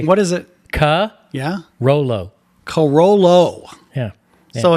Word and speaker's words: Carollo: Corolla. Carollo.